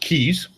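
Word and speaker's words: Cayes: but go ahead bill yeah in case it's pronounced keys so it's actually the keys o island and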